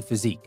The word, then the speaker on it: physique: Brawny physique. When we talk about the physique of somebody, and here it's important to know the spelling of this word, it's P-H-Y-S-I-Q-U-E, physique, and that's how we pronounce it, physique.